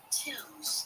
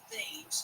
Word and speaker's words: Thames: Nancy Timms is how you say her name. It's going to look like Thames, Thames, because that's what you're going to want to say.